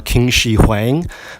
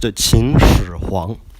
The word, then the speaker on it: Qin Shi Huang: So if you're in history class, please stop calling the first emperor of China King Shi Huang, because that is really off. It should be pronounced Qin Shi Huang.